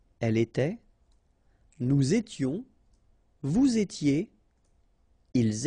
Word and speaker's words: étaient: Remember, final S, here, here, final T, and then here, E and T, you don't pronounce them. So you will get était, okay, for all these forms, okay? J'étais, tu étais, il était, elle était.